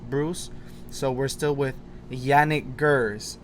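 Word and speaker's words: Janick: So we're still with Yannick Gers. I was told that's how it's pronounced. Yannick, not Janik.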